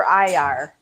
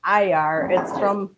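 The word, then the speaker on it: ajvar: Tonight, the new ingredient that nobody has ever tried in this household is red pepper IR. That is how you pronounce it. It's AJBAR. It's pronounced IR.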